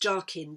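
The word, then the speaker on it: Jachin: means strength and uh what i'm told by a mason friend of mine is pronounced jarkin j-a-c-h-i-n which means to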